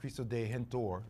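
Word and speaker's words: Cristo Redentor: Rio de Janeiro uh chisto de hentor is how you say it in Portuguese and it was on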